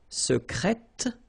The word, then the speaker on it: secrète: Okay, so I tend to insist a little bit on it just to make you hear the difference between the masculine. Secret, secrète. Okay, so you're pronouncing the T.